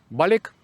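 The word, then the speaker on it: balik: Балік. Балік - це нове слово. Пишеться прямо балик. Вимовляється з м'якою л.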